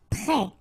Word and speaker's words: prêt: Prêt. Final T not pronounced. E accent circumflex like that phonetically gives you the E sound.